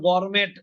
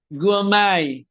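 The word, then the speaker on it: gourmet: হ্যাঁ চার পাঁচ বার বলতে হবে এটা আবার গর্মেট না গর্মেট বলেন গুমাই গুয়ামাই এটার অর্থ সবাই লিখে রাখেন হাই কোয়ালিটি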